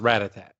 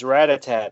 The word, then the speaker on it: Rattata: I believe it's pronounced Rattata. It's Rattata, isn't it? Rattata. Okay, yeah. Because Rattatat, that's like music, Rattatat-tat-tat.